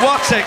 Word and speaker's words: Wattick: Oh, Wattick. What? I pronounced it wrong. Wattick.